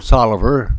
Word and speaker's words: Taliaferro: My name's Tolliver. It's spelled Taliaferro.